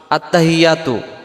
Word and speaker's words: আত্তাহিয়্যাতু: এই শব্দটাতে আমরা কি ভুল করে ফেলি আমরাদের উচ্চারণে আত্তাহিয়াতু আত্তাহিয়াতু আত্তাহিয়াতু হা জের হি ইয়ার পরে তাসজিদ আসছে